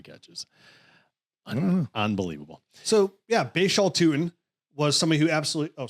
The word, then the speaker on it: Tuten: I had to make sure, I had to make sure the pronunciation. Oh, it's Tuten. It's Tuten.